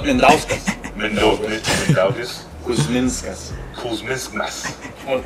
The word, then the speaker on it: Mindaugas: Mandaugis Kuzmiskis. What? I don't know how to pronounce his name, right?